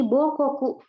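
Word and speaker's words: 母国: Nah, ada lagi Bokoku.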